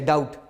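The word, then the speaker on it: doubt: जाए, ध्यान में रखिएगा, बी के बाद टी आ जाए तो बी की आवाज़ साइलेंट हो जाती है, जैसे डाउट। इसी तरह डेट।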